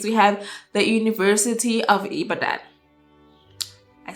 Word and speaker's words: Ibadan: Um, in fourth, in fourth place, we have the University of Ibadan.